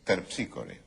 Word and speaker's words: Terpsícore: cómo que no dije es terpsícore Ah claro es ter piscore Ester Esa es la pronunciación griega claro nosotros a las